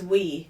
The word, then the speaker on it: oui: No, it's we.